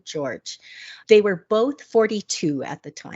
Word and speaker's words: Jorge: Now, his name is spelled Jorge, which I know. I always thought that was Jorge, but they call him George.